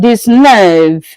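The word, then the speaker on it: dix-neuf: This nerve.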